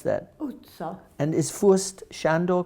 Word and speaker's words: utca: How do you pronounce that? Utca.